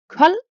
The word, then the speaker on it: kold: This equals a silent D, which means D is never pronounced after these consonants. An example could be man, a man, kold, cold, or gård, which is a farm.